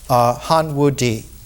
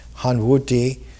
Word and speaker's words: Han Wudi: the Han Dynasty emperors, Han Wudi. Ti is pronounced D in Chinese. Han, the dynasty, Wu, Han Wudi, reigned for 55 years.